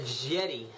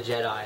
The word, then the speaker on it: Jedi: got Return of the jetty I'm just kidding Return of the Jedi I know how to say it with uh this the